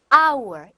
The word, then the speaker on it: hour: hour. H 발음이 안 나네요.